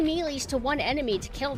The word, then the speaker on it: melee: slower than her ground melee. Okay. What happened? Yeah, this is 3DS. Melee. Oh, y'all, shut up! Shut up! It's ridiculous! Melee sounds cuter. And it's spelled M-E-L-E-E. So me and then Lee.